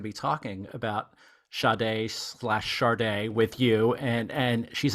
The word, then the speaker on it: Sade: I was going to be talking about Sade charde with you and and she's like really charde